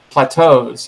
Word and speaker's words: plateaus: I can't even pronounce it. Oh, plateaus.